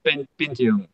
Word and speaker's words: 5XUM: It's written 5XUM, but it's pronounced Pentium as like the chip that was the the top of the So line it's when I was a kid.